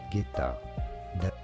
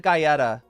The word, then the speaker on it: Guetta: In French, it is said as David Guetta. David Guetta. Guetta. Yeah, there's no second syllable there. It's just Guetta. Okay, so I was wrong, though. I said Gaieta.